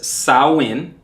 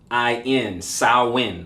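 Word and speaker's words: Samhain: is over right okay um but it says sowin right sour win is is like it's not expelled s-a-m-h-a-i-n right but it is pronounced s-o-w-i-n sauwin right sawin okay so sawin was the first and most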